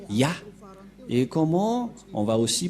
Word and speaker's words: Yah: Donc, pour les Juifs, le Dieu juif s'appelle Ya, Yod et He. C'est bien clair. Donc, il n'y a plus rien à contredire. La parole du grand-père Moshe est très claire. Ça se prononce Ya.